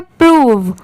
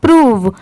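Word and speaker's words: prove: प्रूव ठीक है प्रूव अगर यहां पर यह सेपरेट होता जैसे पी आर ओ होता तो इसको प्रो पढ़ते हैं पर यहां पर इसकी प्रोनंसिएशन है प्रूव ठीक है ऐसे ही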